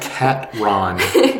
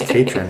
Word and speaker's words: Catron: It's pronounced Catron. Catron. Sorry, it's Catron.